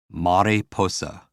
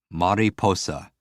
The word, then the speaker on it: mariposa: Mariposa. Mariposa. For me, I hear Mary posing.